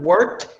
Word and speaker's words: worked: Do you see how the word worked has an OR? It's spelled with an OR, but it sounds like an ER, right?